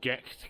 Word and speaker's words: Gight: n this is Castle well actually it's GE Castle that's how it's pronounced around here and it was